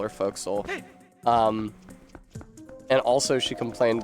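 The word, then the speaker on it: forecastle: First of all, she complained that it's pronounced foxhole or folks.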